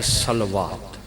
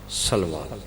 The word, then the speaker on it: صلوات: پڑھتے ہیں جسے، تو عربی زبان میں اس کا اصل تلفظ ہے صلوات، ٹھیک ہو گیا؟ کیا تلفظ ہے؟ صلوات۔ اب در حقیقت ہم